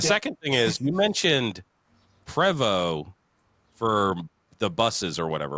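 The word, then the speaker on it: Prevost: And then the second thing is you mentioned Prevo for the buses or whatever, right?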